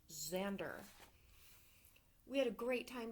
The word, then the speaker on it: Xander: It's pronounced Xander.